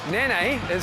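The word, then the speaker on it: Nanai: easy one to remember Nan is someone who looks after your kids you know like a nanny it's actually pronounced Nani like n for an i which is exactly what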